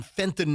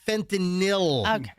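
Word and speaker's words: fentanyl: No, it's it's not the same as people mispronouncing fentinol. Don't lose the forest for the trees here, guys. Yeah, it's it's fentinil.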